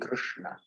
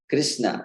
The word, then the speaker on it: Krishna: Our Swayam Bhagavan Shri Krishna. Shri Krishna. So it's actually, if you consider from the pronunciation perspective, there's quite a lot going on